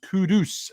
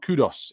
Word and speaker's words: Kudus: let's LJ says please guys his name is pronounced kudus uh not Kudos it's frustrating to hear Garner names which aren't